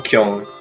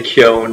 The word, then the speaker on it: Kyon: My brain pronounces N's in Japanese like way in the back of my throat. It's like Kyung. It's just like I can't say Kyon like most people will say.